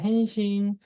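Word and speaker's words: 返信: 헨신이라고 되어 있네요. 발음은 헨신.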